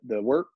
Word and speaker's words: wort: So it's pronounced wort.